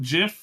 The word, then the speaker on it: GIF: he called it um he called it JF with a soft G choosy developers he reportedly